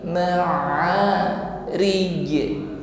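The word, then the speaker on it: معارج: Rij ditutup dengan huruf jim. Maka di sini huruf jim kita tampakkan sifatnya yaitu qalqalah, dan kebetulan huruf jim ini di akhir ayat, maka hukumnya menjadi qalqalah kubra, ya. Ada bunyi pantulan, ya. ma'rij, dan pantulannya jelas. Ma'rij, rij, pantulannya besar daripada qalqalah yang berada di tengah ayat.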